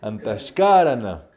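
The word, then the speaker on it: Antahkarana: and cómo se llama antes cara la verdad con acento en la penúltima antes cara antes carencia muy bien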